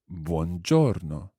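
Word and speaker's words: buongiorno: evening and that's the word Bongiorno listen again Buon Giorno Katie can you try sing Buon Giorno Buon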